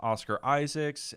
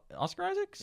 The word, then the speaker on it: Oscar Isaac: He's like doing the two-hander with Oscar Isaacs and or not Oscar Isaacs. Yeah, Oscar. Yeah, Oscar Isaac. Is it Oscar Isaac's or is that the guy from It's Oscar Isaac.